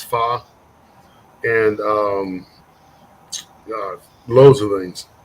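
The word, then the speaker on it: phở: all and that's u a real fa which is spelled pH o it's it's fa and um loads of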